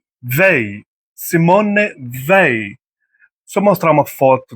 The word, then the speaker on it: Simone Weil: Ved in French pronunciation politician Simon Simon Simon Simone Ve Ve Simone Vi.